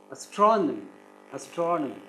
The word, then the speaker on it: astronomy: They will stress the third syllable, but you have to stress the second syllable. Astronomy.